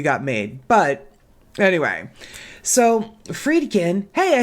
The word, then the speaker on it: Friedkin: But anyway, so Friedkin, hey, I said it right.